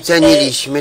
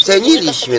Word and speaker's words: ceniliśmy: ich wiedzę i pedagogów, jak ona mówi ceniliśmy, to jest błąd, bo się mówi ceniliśmy, to jak ona nie wie, że jest akcent na trzeciej sylabie od końca i ona tu w radiu będzie gadać głupoty.